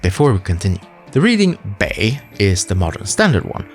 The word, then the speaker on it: 北: The reading bei is the modern standard one. However, the reading pronunciation, or duyin, is supposed to be bo, which more closely resembles the ancient pronunciation.